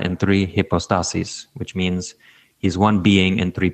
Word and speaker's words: hypostases: be singular also, and then in the plural, it would be hypostases. So when you make the word plural, you have to move the accent over to the second to last syllable.